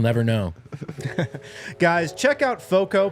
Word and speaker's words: FOCO: know guys check out foco pronounced like Fort Collins but it's f-o-c-o they're they are a